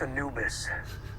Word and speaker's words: Anubis: advanced technology it's called the annulus Anubis it's pronounced Anubis Egyptian god of the dead yeah the powers